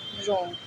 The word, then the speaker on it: wrong: WRONG, रॉन्ग। एक special बात, अगर किसी स्पेलिंग की शुरुआत में हु से होता है तो वहाँ डब्लू साइलेंट होता है।